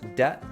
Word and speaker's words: debt: Think about the pairs debt versus debit, doubt versus dubitable, sign versus signature, autumn versus autumnal. The first word in each of these pairs has a seemingly useless silent letter, but when you say